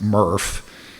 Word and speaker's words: MRF: which stands for Material Recovery Facility, and it's pronounced MRF, so I probably will fall into using MRF because I'm so used to it, so I'll try to be good about that.